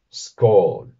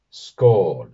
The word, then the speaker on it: skál: La palabra que nos concierne en este vídeo es no otra que scall. Sch es una forma de hacer brindis en nórdico antiguo y se pronunciaría de esta manera. Sch. Sch.